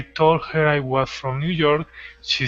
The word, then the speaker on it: New York: real quick so uh we don't say new york we say new york we stress the second word okay so i was